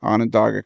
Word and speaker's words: Onondaga: called the Onondaga how do you say it on a dog a cut-off Onondaga cutoff and what is that excited its Conrail